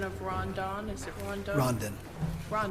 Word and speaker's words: Rondon: Nicholas Kuczynski, representing the Office of the tell me the proper pronunciation of Rondon? Is it Rondon? Rondon.